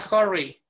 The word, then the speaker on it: hurry: Se escribe hurry, se pronuncia hurry. Hurry, con O.